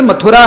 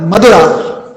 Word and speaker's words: मथुरा: हम लोग जैसे मथुरा बोलते हैं, थ शब्द का उच्चारण करते हैं, वैसे ही दक्षिण में प्राकृत भाषा में थ का बन जाता है द, जैसे भगवत गीता। प्राकृत भाषा में जब उसका उच्चारण होता है तो हम लोग कहेंगे भगवत गीता, दक्षिण में कभी कभी हो जाता है भगवत गीता, सुनने में आएगा आपको। तो वैसे मथुरा का हो गया मधुरा, दक्षिण मधुरा, और काल